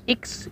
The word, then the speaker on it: X: Dan ciri yang terakhir yaitu adanya maklumat wakil presiden nomor X, itu bukan nomor 10 ya, bacanya adalah nomor X tanggal 16 Oktober tahun 1945.